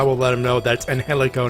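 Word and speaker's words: Angélico: yeah yeah yeah aaron everyone just pronounces it phonetically when they know they have to they don't know they have to pronounce it like uh like spanish style yeah and guts what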